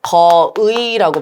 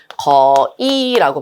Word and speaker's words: 거의: 자, 그다음에 거의에서 의는 이음절이니까 그죠? 두 번째 음절이니까 어 한 단어에서 두 번째 음절은 의도 되고 이도 된다고 했죠. 자 그래서 거의라고 발음해도 되고요. 거이라고 발음해도 되겠죠. 여기 한 가지 발음만 가능한 거 아니고요. 두 가지 거의와 거이 다 됩니다.